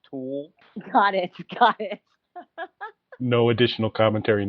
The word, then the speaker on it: Thul: So, Nikki, just so you know, his last name is spelled THUL. It's pronounced Tool.